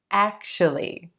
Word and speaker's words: actually: I know it looks like it should be actually, actually, but we're going to give this word just 3 syllables, emphasis on the first syllable, and the A as in black. Actually. And that second syllable is going to be a schwa, sh, sh. Actually, actually, actually.